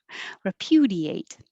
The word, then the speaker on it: repudiate: And I thought of this as pew pew, repudiate.